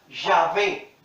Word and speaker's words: Yahvé: Algunas traducciones latinizadas lo presentan como Yahvé. Los judíos siguen pronunciándolo como Yahweh, ¿sí?